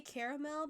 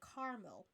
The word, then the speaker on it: caramel: that like this word I I say caramel because I see the a so I'm going to pronounce that but I do know there are some people out in the world that say caramel so that that's a